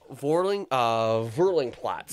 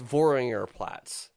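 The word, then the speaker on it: Wörringer Platz: Vorling Platz. There you go. Nailed it, sort of. Yes. Vorling. No, sorry. How much? Gorbelsberg. Nope. it's Voringer Platz. That's what it is.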